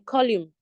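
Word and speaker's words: column: is silent and then colume colume there the N is silent and then Palm okay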